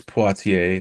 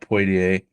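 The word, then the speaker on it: Poitier: It's Poatier, not Puier.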